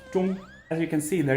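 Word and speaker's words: 中: The character which means middle is pronounced zhong.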